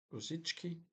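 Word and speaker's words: Rosický: Um Rosiki Rosichki I guess is the correct pronunciation for Look at me with my Slavic accent here.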